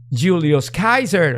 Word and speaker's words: Julius Caesar: put something like a Alexander the Great or Julius Kaiser or Julius Caesar Julius Caesar for us you are I still